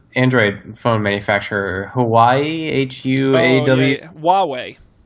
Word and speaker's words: Huawei: the native chinese android phone manufacturer hawaii h-u-a-w huawei huawei that's i that is how you say that